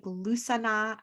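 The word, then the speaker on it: Lughnasadh: it very well but it's something like lusana and it's spelt l-u-g-h-n-e-s-a-d-h but it's also known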